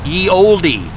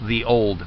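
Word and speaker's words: ye olde: That's actually the letter pronunciation for the word the. It's not ye oldie or oldie. It's the old.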